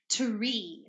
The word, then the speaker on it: tree: t t is a hard T sound so it's tree tree no air not like three this is tree tree okay any any